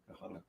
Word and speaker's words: Ghana: Tomatoes from Ghana are not It's pronounced. Ghana.